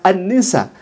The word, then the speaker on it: An-Nisa: Annisa ditulisnya seperti itu. Tapi harusnya dibacanya Annisa karena akan diketawakan ya ikhwah kalau misalkan dia mengatakan surah An-Nisa tidak kemudian dibaca Annisa.